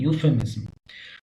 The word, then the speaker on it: euphemism: इसका सही प्रोनाउंसिएशन होता है यूफेमिज्म।